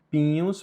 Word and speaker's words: pignus: Pinhos, por que pinhos? Porque o G com N tem som de NH.